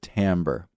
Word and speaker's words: timbre: It's spelled like timber, but we pronounce it timbre.